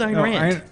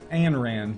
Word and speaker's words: Ayn Rand: chocolate factory no who's iran and it's ann rand but her her name is spelled ein rand she's uh the begin